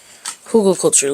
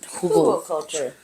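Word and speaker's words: Hügelkultur: Hugelkultur, ladies and gentlemen. Hugelkultur. German pronunciation. Literally mound bed or mound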